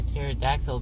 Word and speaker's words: pterodactyl: Why can't you hear a pterodactyl go to the bathroom? Because the pee is silent.